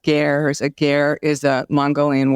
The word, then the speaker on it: ger: So this is a place that is built in the middle of the desert in these, they're pronounced gers.